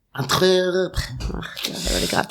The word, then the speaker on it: Antwerp: You're not pronouncing it properly. That's why. It's Antwerp. Antwerp.